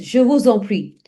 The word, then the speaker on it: je vous en prie: So the correct pronunciation is je vous en prie.